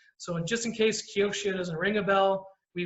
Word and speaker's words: Kioxia: in just in case kyoshina doesn't ring a bell we were toshiba but the way you pronounce it is kyochia everyone gets it wrong don't worry all right